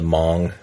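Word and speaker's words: Hmong: read one book about the Mong that's spelled with an H Hong yeah the Hong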